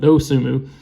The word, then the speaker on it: Dosunmu: I think the N is silent. Dosunmu.